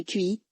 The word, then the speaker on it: qi: La MTC repose sur le concept de QI, prononcé Qi, la force vitale qui circule à travers des méridiens ou canaux énergétiques dans le corps.